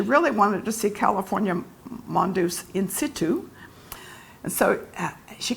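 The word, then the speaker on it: Mondeuse: that grape hmm and in France its Mon does mom does he us is is us so it's you have to stick your jaw out so it's one does but it's very hard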